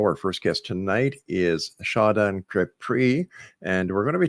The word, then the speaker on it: Shadan Kapri: So, but no, Shonda's nice too. You can call me either one.